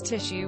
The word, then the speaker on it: tissue: People who pronounce tissue without the shush sound but with an S sound.